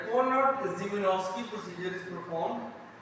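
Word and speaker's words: Szymanowski: Conrad Jubinowski इसमें S silent है, कोनॉट जिमिनोव्स्की procedure is perform, ये भी आपको वीडियोस के बगैर समझ नहीं है, ठीक है।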